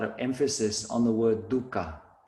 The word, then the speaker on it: dukkha: on the word dukkha please note the pronunciation we all be aussies have a tendency to pronounce it dhaka which is like a dry dip that we mix olive oil and drip out bread and dip our bread into it's like a dip it's not dhaka it's dukka but speaking